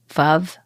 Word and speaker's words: Veuve: If it is cocktail time, I'm going to the champagne bar and getting a glass of, I know it's pronounced veuve, like love, but I have to say veuve.